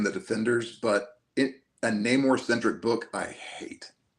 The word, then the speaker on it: Namor: Oh, Neymar instead of Namore.